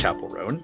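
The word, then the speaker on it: Chappell Roan: It's Chapel Roan.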